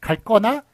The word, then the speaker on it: 갈거나: 아니다 버리거나 가 봤습니다 4 갈꺼나 이런식으로 발음을 합니다만 쓰는건 갈거나 로 써 주셔야 되요 자 그래서 여기서 드리고